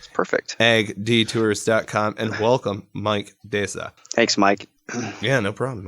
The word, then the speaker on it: Desa: So it's going to be like Mike Desa. I pronounced that correctly, correct? It's pretty close. It's Desa. Desa. But you're in the ballpark.